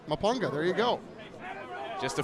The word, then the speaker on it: Mpunga: Mapunga. Mapunga, there you go.